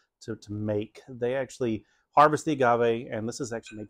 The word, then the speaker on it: agave: I'm getting the agave. Is that how it's pronounced? It's just agave.